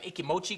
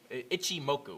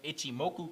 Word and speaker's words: Ichimoku: similar to like an ikimochi cloud ichimoku cloud uh i would say ikimotu ichimoku i think is how you say it but uh obviously you're